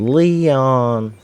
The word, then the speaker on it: Leon: See you around, Leon. That's the correct way to say it, Ada. The only acceptable way to say Leon is as if you are talking like Ashley.